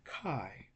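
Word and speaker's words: καί: Like in Kai, we have one diphthong, I. Okay, you see this diphthong, I, Kai. That's why the word is pronounced Kai. We have the kappa sound and I. So this word has only one syllable.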